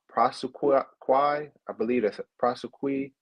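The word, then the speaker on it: prosequi: I believe that's a prosequy I believe that's how you pronounce it it's n-o-l-l-e-p-r-o-s-e-q-u-i basically the prosecutors are um not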